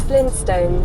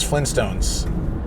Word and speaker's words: Flintstones: But the people admit the T because the way we pronounce it is Flintstones since we were kids. It's like Flintstones meet the Flintstones, right? Like so we don't really pronounce the T just the way it